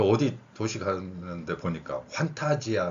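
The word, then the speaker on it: Fanta: 가서 음료수 살 때 판타 먹을래 할 거예요 환타 주세요 할 거예요 그냥 나올 거예요 요즘 소상공인들 힘들어요 웬만하면 사 드세요 자 그래서 판타라 발음인데 이게 환타 판타 이렇게 표기되는 겁니다 그다음에 저번 강의에서 제가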